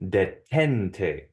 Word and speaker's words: detente: And so it'll be detente, detente. And since the emphasis on the second to last syllable, it does not need an accent mark.